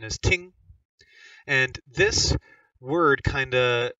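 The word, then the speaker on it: 聽: listen this word means to listen and its pronunciation is ting and this word kind of um embodies the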